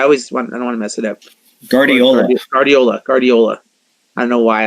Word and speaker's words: Guardiola: Barbara Greenberg at nine Alyssa how do you pronounce her last name coach I always wanna mess it up Guardiola Guardiola Guardiola I know why I was having